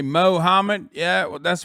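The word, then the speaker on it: Muhammad: god damn you look like you say mohammed yeah well that's right that is how you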